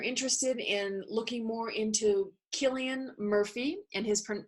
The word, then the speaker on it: Cillian: in looking more into Killian Murphy and his per name is pronounced Killian even though it's spelled with a c' check them out on